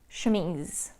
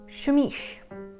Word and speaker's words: chemise: upload for 26 minutes you heard me pronounce more than a dozen times shumish yes that is how i pronounced it and i had no idea that it was incorrect my mom and oldest sister knew how to pronounce it correctly but in my hearing them say it and then pronouncing it myself it somehow turned into chamish two of my other